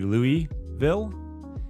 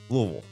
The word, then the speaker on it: Louisville: of pronouncing it Louisville these fine citizens call it Louisville just you just kind of slam it all together and forget that there's an S or an I in the middle of it and if